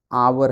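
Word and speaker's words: hour: अब देखिएगा इस क्या है, इट विल टेक, ये आवर है, ये एच से स्टार्ट है, हालांकि स्टार्ट तो कॉन्सोनेंट है, लेकिन इसका जो साउंड है ना, ये आ है, आवर में पहला आ रहा है ना, जब आ रहा है तो आ का मतलब ये वावेल साउंड हो गया।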